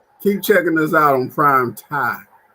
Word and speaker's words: Prime TImE: checking us out on prime time where the m is silent and was small because